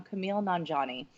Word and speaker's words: Kumail Nanjiani: But it also brings up my absolute current favorite voice actor is, and I may get this name wrong, Kumail Nanjiani.